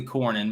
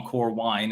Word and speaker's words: Cornyn: i can't remember cornine i know it's technically cornyn but i call him core wine and it rhymes so i'm right anyway uh he's probably